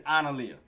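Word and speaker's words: Analiyah: So her name is Analia. It's spelled A-A...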